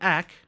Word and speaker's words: ek: watched my previous videos you know that ack means me and that's how i pronounce it which means you guessed